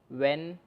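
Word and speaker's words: when: व्हेन, तो व्हेन में क्या है कि जब भी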